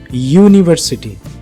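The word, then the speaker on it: university: परंतु जब इसका उच्चारण आप करते हैं यूनिवर्सिटी, यहाँ पे य साउंड आपको सुनाई देता है और जो कि एक कॉन्सोनेंट साउंड जैसे सुनाई पड़ता है।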